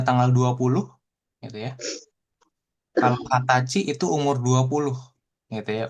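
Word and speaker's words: 二十歳: Tanggal 20 bacanya Hatsuka. Oke, jadi khusus angka 20 ya. Heeh. Khusus angka 20 itu dibacanya kalau tanggal Hatsuka, kalau umur Hatachi.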